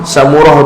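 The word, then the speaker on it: سمرة: Wasamurah, samurah tu pula dia ajak cara baca bi fathis sin, dengan fathah sin sa, wa dhammil mim dan dhammah mim samu, samurah.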